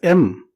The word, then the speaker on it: em: Alternatively, another popular size unit is em, which can be pronounced as m.